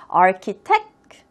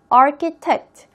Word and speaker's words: architect: architect, architect. 읽는 것도 꼭 유의. ch가 있는데 arch라고 읽지 않는다. architect이라고 읽는다는 것까지 꼭 체크하세요.